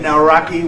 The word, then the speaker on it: Nawrocki: It's a great pleasure to have President Naraki with us in Poland.